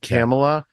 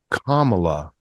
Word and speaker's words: Kamala: for us to remember it's Kamala Kam well the reason the reason that I can remember it now is because the accent is on the first salabo right so it's comma like communism right we don't say communism